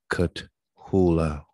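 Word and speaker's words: Cthulhu: natural horror literature and later contributions to the cut hula by author august derla all right they spell it c-t-h-u-l-h-u all right so these are their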